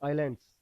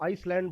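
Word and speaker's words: island: Indian desert, coastal planes और आइलैंड्स। कई लोग इसको आइसलैंड बोलते हैं भैया, ऐसा नहीं है, एस इसमें साइलेंट है, इसको आइलैंड ही बोलेंगे आप लोग, ठीक है ना।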